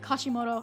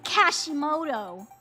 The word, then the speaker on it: Kashimoto: You know what, now that I think about it, I'm sure Taiki does not pronounce it Kashimoto. I'm sure she says Kashimoto. Kashimoto. Like that. There you go. She like does the T really hard.